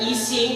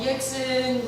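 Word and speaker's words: Yxin: weren't totally ready for e-sing which is spelled y x i n and people are always like Jackson Asian anyways so I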